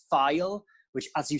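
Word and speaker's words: Ffeil: It's like file, as in like opening a file.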